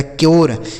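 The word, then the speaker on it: cure: सी यू आर ई तो सी से हो गया दोस्तों आधा क यू का उच्चारण यो हो गया। आर ई से र लिखा गया क्योर।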